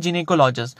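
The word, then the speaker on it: gynecology: subject में पढ़ते हैं गायनेकोलॉजी में पढ़ते हैं और इसी से हमने एक और वर्ड देखा था जो था गायनेकोलॉजिस्ट या जिने कोलॉजी उसका सही प्रोनाउंस एशन क्या है जिने कोलॉजी तो जिने कोलॉजी का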